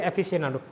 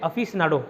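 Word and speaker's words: aficionado: एफिशिएनाडो, इसको प्रोनाउंस करते हैं अफिशनाडो, अफिशनाडो, अफिशनाडो प्रोनाउंस करते हैं।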